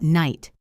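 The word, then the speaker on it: knight: What about night? K-N-I-G-H-T. Night. The K is silent. The G-H is silent. You say just night.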